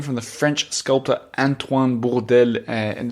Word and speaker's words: Bourdelle: Well, I didn't want to say bordel, which means brothel. So you went hard on the R, on the rolling of the R. Bourdelle.